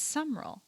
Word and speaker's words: Summerall: Also, why is John Summerall pronounced with 3 syllables? It's Summerall. Why is it Summerall?